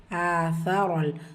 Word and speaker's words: آثر: ஆசரல் சா எப்படி ப்ரொனவுன்ஸ் பண்ணணும்? உங்களுடைய நுனினாக்கு மேல் பல்லுடைய கீழ் ஓரங்களில் உரசி சா உச்சரிக்கணும்.